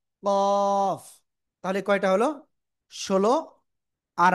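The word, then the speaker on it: كاف: অক্ষরের নাম কি জানেন কাফ ওই যে জিহ্বার গোড়া গোড়া থেকে একটু আগে বাড়াবে একটু আগে বাড়িয়ে তার বরাবর উপরে তারুর সাথে লাগিয়ে চার আলিফটা নিয়ে উচ্চারণ করতে হবে কাফ ঠিক আছে জোরে জোরে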